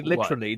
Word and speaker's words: literally: Phonetically, but when they say literally, they pronounce the T as a D.